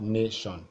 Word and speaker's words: nation: So we have nation. So this is the last, this is the second. So we need the one that has na in caps.